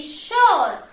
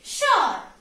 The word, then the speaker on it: sure: h o r e sure how do you have to pronounce it your r will be silent like that you have to pronounce okay sure sure r will not be pronounced okay rig